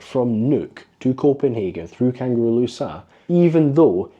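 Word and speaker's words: Kangerlussuaq: to say that because that's not how it's said locally I know everybody I know says kangaru luak but it's kangaro Lua I heard and I'm sorry if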